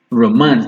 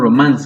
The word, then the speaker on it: romance: Romance. It's not romance, it's not romance. It is romance.